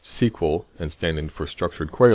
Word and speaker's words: SQL: say the database usually now SQL more commonly pronounced SQL and standing for structured query language that refers